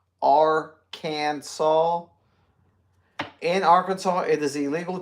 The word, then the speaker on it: Arkansas: be kept in bathtubs Arkansas must be pronounced Aransas in Arkansas it is